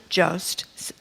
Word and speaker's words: Jost: Here's a clip with host Colin Jost. That's how you say it? Jost.